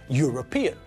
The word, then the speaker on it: European: true of the adjective European because it sounds like the first letter is a consonant we don't say ern